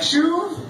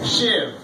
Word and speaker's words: Shiv: introduced myself, I'm like, hey, my name is Shiv, and then she's just like, Shuv? I'm like, no, Shiv. And then she's just like, Shuv? And I'm like, no, usually you adjust the pronunciation after you get it wrong the first time.